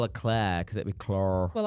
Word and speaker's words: Claire: Claire, and she'd be like, "No, it's Claire," because she was like, "No, this is my accent. This is how I say it."